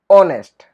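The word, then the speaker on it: honest: लेकिन कुछ शब्दों के अंदर ये मूक रह जाता है, मतलब साइलेंट रह जाता है। जैसे कि आवर, ऑनेस्ट, इस तरह से।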